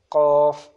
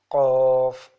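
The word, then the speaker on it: ق: So the next articulation point is for qaf. Qaf, Qaf from deepest part of the tongue. It is pronounced from deepest part of the tongue, from the soft plate near the uvula, like Qaf.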